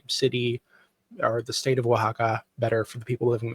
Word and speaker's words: Oaxaca: So I think that's where the you said Oaxaca is spelled strangely. And I think that's why, because the X is actually like an H sound.